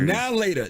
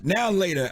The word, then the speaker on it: Now and Later: Now later. Now later.